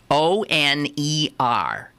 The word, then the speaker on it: oner: O-N-E-R. Pronounced oner.